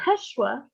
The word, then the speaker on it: Yeshua: are praying to know yeshua that is the hebrew pronunciation of jesus of nazareth if you are praying